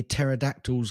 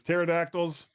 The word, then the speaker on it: pterodactyls: that cavemen couldn't hear pterodactyls going to the bathroom why not because the p is silent oh that's good end